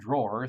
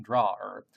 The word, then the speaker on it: drawer: would call Chuck the drawer and you have to be careful here this word is not pronounced like the place you store your socks uh it's like the